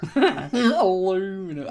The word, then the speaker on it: aluminum: See, the funny thing is that I've looked it up on the dictionary, and it's actually spelled both ways and pronounced both ways, aluminum and aluminium.